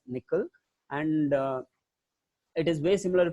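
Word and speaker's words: N1QL: That's why it is called as MonQL, and it is pronounced as nickel.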